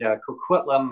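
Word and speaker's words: Coquitlam: special guest Bonita MP Bonita from Port Moody kitum I got it right this time Bonita I pronounced it as you say Port Moody Port Moody and kitum and but I got it right so thank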